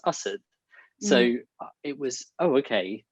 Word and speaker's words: Asad: with my indian family and my name is pronounced us so it was oh okay that's a jar and then i adopted assad because it's it's easier um to get by